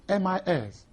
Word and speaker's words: MIS: introducing the concept of Mis Mis is the acronym for management information systems and pronounced are separate letters mi s refers broadly